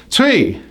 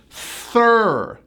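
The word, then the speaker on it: three: Now, many of my clients pronounce this number as 3, but it's a THR blend. So you start out with a TH, take your hand, blow on your hand like you're blowing out your birthday candles. Stick your tongue out, now add an R.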